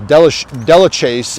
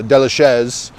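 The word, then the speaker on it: Delachaise: i believe it'd be delicious um but you know we uh we're a little bit liberal with the french pronunciations well just the pronunciations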